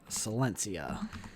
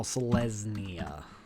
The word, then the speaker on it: Selesnya: And Silencia. Oops, I thought it was in. Did not spell that right. S-E-L-E. Oh, Selesnya. Oops. Selesnya Guildgate.